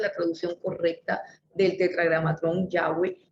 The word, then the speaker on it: Yahweh: el nombre del tetragramatrón, el Yahweh, que es lo correcto decir, no es Jehová, sino Yahweh, como lo tradujeron los católicos. Esta es la traducción correcta del tetragramatrón Yahweh, y ellos sabían que